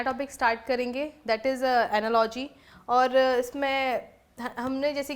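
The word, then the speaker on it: analogy: तो कुछ इसमें एनालॉजी, इसको कुछ कभी कुछ लोग एनालॉगी भी प्रोनाउंशिएट करते थे, बट इसका जो right pronunciation that is एनालॉजी, ठीक है।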